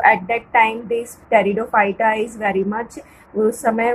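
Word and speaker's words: Pteridophyta: टेरिडोफाइटा एज the name indicate the Tayron means here the पी is silent.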